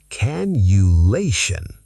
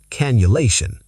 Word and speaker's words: cannulation: The double N softens to a U sound. Cannulation. Cannulation.